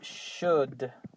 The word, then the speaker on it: should: We don't forget that the pronunciation, don't say the O, don't say the L, and the result is should.